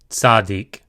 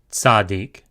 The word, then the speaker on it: Tzadik: Tzadik. Tzadik. Tzadik is a TS sound, as in bats. Tzadik.